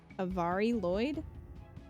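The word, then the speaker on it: Mari Lwyd: with a V yeah it's a Avari okay Avari Lloyd a Vari Lloyd okay uh and it looks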